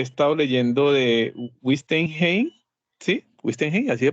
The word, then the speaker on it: Wittgenstein: Wittgenstein, así se pronuncia.